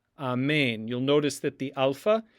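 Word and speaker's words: ἀμήν: And then we have mu, and then there's eta with an accent mark in it, so it's going to receive the stress.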